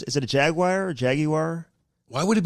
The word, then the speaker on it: Jaguar: I'm like, dude, I want, once the fucking, everything's Jaguars? Is it a Jaguar or Jaguar?